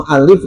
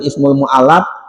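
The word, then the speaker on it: مؤلف: Bacanya jangan keliru. Jangan ismul mualaf ya. Ya, beda artinya mualaf dengan mual mualaf. mualaf yang harus dijinakan karena baru masuk Islam. Kalau mualif artinya pengarang kitab.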